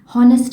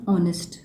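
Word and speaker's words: honest: यहाँ पर जो ऑनेस्ट है, ऑब्वियसली हॉनेस्ट नहीं बोलते, एच प्रोनाउंस नहीं होता, इसमें ऑनेस्ट प्रोनाउंसिएशन आता है।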